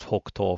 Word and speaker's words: 北東: pronounced Hokuto for northeast.